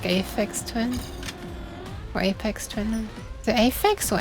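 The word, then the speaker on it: Aphex: Is it Aex or Apex? I hear people say Apex, but I see people write AEX. Is it actually like that? You spell it AEX, but it's pronounced Apex.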